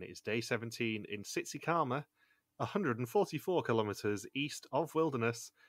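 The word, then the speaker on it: Tsitsikamma: And I'm like, I know how to pronounce that. I know exactly where it is. It's Tsitsikama.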